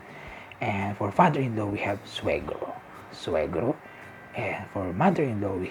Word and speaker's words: suegro: The N, there's a wave on top of it, so you pronounce it as cuñada. And for father-in-law, we have suegro.